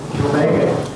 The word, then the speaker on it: Kilbeggan: How do you say that? Kilbeggan. Am I saying it right? Yeah. Yes, you are.